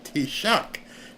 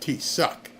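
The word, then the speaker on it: Taoiseach: T-shock. T-shock. Okay. T-shock, not T- suck. I must have read it incorrectly. Um, let's see here. It is pronounced Tshock.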